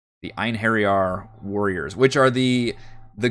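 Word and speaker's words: Einherjar: how to actually pronounce it it is apparently pronounced ein harry r the iron harry r warriors which are the the ghost warriors that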